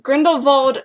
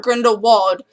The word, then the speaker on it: Grindelwald: also it is pronounced Grindelwald not Grindelwald it is German and my music teacher is German and she speaks German and the W is pronounced as a V so it's Grindelwald not